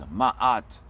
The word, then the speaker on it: Ma'at: The word is spelled the same way, almost the same way, but the way it's pronounced in Egypt, in Africa, is Ma'at.